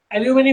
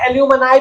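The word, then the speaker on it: alumni: एल्यूमिनी meet या एल्यूमिनी association का मतलब क्या होता है, एल्यूमिनी एल्यूमनाई भी बोलते हैं इसको, दोनों तरह के इसके, दोनों तरह के इसके वो है प्रोनाउंसिएशन, एल्यूमनी बोलो चाहे एल्यूमनाई बोलो, एक ही चीज।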